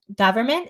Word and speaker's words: government: of the words where we use the uh vowel as in cup are spelled with an O which is a nightmare for example um government they'll say government or